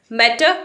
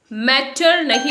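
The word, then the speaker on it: matter: मैटर नहीं बोलना है, यहाँ पर जो आर है वो साइलेंट होगा और लास्ट में अ के साउंड पर खत्म होगा।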